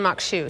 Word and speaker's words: Maque Choux: called Mok shoe and that's how you pronounce it it's spelled a little different they can see that